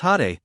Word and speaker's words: Jade: of crime Lord Felix Jade pronounced had when Anna is 6